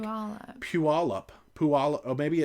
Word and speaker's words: Puyallup: Pulley up.